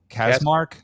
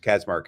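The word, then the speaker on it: Kacsmaryk: North Texas it's Amarillo Texas uh judge Matthew casmark am I am mispronouncing that if you are that's how if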